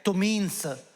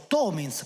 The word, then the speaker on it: Tominz: che è dedicata a Giuseppe tominz come è la pronuncia in sloveno o tomins come lo chiamiamo noi trestini e la data di